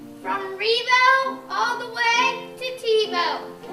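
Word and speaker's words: Ribault: Near, near, near, Rebo rhymes with Tebow, but nothing rhymes with Hans.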